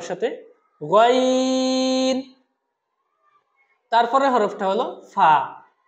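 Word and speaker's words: فاء: গাইন তারপরের হরফটা হলো ফা ফা হরফটা এক আলিফ টানতে হবে খুবই সহজ একটা হরফ উপরের দাঁত নিচের ঠোঁট সহজে মনে রাখবেন উপরের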